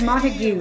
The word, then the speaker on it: Montagu: It's Montagu. It's Montagu. It's Romeo's last name.